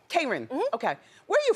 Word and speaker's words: Kron: Am I saying it right, by the way, Kron? It's Kron. Kron.